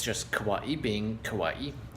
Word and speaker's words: Kauai: to the top I give you all of kawaii as it's pronounced correctly as I found out recently so